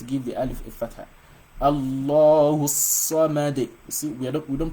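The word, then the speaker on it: الله الصمد: So the saw here, for you to be able to pronounce shadda very well, you've got to assume that you're pronouncing 2 swords.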